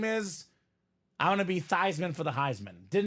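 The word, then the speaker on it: Theismann: staff said Hey Joe let's change your last name from thyman or excuse me from thian to thyman so we can say thyman for the Heisman Joe's a sellout Robbie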